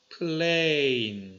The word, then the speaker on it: plane: 자, e가 붙으면 얘는 앞에 있는 a가 발음이 좀 길어집니다. plane 이렇게 됩니다.